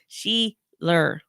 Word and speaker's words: Sheeler: I had to Is have it him Sheeler? announce it to me or Sheeler? pronounce it to me a couple of times. I was like, wait, I'm still saying it wrong. One more time. He's like, Sheeler. She lured me.